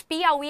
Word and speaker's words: Piauí: pro feed Como assim mas Piauí é pela regra do hiato notem que têm vogais